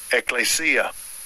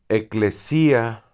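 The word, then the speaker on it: ἐκκλησία: Se la que aquí vamos a ver cómo se dice en griego. Strong's G 1577. Ecclesia. Ecclesia. Eclesía G1577, la fuerza de la palabra.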